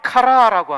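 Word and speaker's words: χαρά: 헬라어로는 카라라고 합니다. 카라하니까 걸그룹 카라를 떠오르는 분이 있는데, 걸그룹 카라는 K-A-R-A고요. 기쁨이라고 하는 희락의 카라는 C-H-A-R-A입니다. 이거는 걸그룹이고 이거는 기쁨의 카라예요. 카라, 액센트가 뒤에 있죠.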